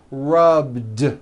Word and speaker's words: rubbed: a voiced B rub today I rub yesterday I rubbed all I did was was add a voiced D sound at the end rub it's not rub with an unvoiced T it's rubbed like that here's another example clean